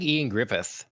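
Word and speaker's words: Ioan Gruffudd: It's like Ian Griffith or something like that. Like completely not what it looks like.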